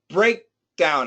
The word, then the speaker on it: breakdown: Give me a stop sound. Breakdown. I need to hear more of a stop there. That's a complete breakdown of the system. Uh after key. After the K.